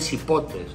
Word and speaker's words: cipote: Porque ajá, se escribe con C, pero se dice con S. Ajá, con S.